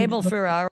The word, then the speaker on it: Abel Ferrara: I don't know if I pronounce it well, but Abel Ferrara, how would you? Abel Ferrara, yes.